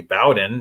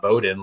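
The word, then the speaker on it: Bowden: watching the game yesterday they pronounced his name Bowen Francis so I'm I'm assuming that the announcers got it right and it's actually Bowen not Boden like I've been saying potato potato let's wait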